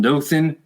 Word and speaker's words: Dothan: welcome Grayson Stewart once again he hails from Dothan am I pronouncing it right Dothan Alabama do Dothan Alabama Dothan Alabama a state